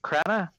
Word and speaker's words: Crenna: Crenna.